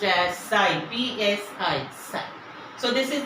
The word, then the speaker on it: psi: It is pronounced as psi, P-S-I, psi.